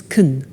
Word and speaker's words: can: he can speak Spanish now notice the pronunciation of can becomes Kun chicken she can speak